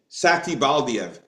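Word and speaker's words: Satybaldiev: Satibaldiev.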